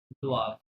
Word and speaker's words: doivent: vous devez, il elle doivent, হ্যাঁ il elle doivent, ওয়াই থাকলে war sound আসে, ওয়েনতে সাইলেন্ট, il elle doivent, they must, they have to বা they must।